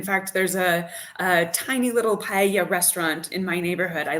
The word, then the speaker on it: paella: It's just paella, or I say paella, which is pronounced badly, but my wife picks me up on that. But when I'm speaking English, I say paella, but it's paella, as you know.